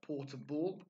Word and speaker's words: portable: report we also have portable again be careful that pronunciation it's not a Blair it's portable and we have Porter